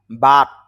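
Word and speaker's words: birth: বার্থ, শেষে থ sound হবে।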